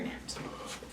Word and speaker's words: gnat: And this one, you might have seen this one before, but it has a silent G and then N-A-T for gnat.